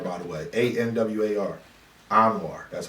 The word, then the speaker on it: Anwar: war bet what's your question sir and it's pronounced anwar by the way a-n-w-a-r anwar that's how you pronounce it just in case because you know i don't want to hear and war bars cause i listen your